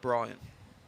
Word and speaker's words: Breen: Spelt Breen, but pronounced Brian.